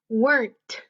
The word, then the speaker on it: weren't: re n apostrophe key so you say it like this weren't weren't weren't say the T on the end ok ok so that's